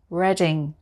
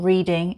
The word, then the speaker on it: Reading: this is it's reading reading it's not reading it's reading reading it's a big university